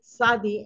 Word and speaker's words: Tzadi: this week we are studying the letter Sadi Sadi the TZ a d Sadi and it's pronounced okay so Sadi means righteous righteous all